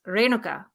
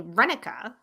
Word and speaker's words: Renuka: So the proper Indian pronunciation is Renuka. Renuka. Renuka. But everyone in school called me Renica.